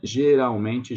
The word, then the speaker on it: geralmente: Com quem você geralmente janta? About this word, geralmente, there's an L, and we don't pronunciate it as an L. We pronunciate it as a U sound, like the U vowel, like geralmente.